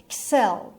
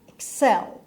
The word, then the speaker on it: excel: پس تلفظش رو دقت کنید. ɪk‌sel. ɪk‌sel means be better than or do better than.